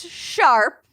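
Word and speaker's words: S#arp: hashtag or pound sign ARP pound sign pronounced sharp no they're from 199 they're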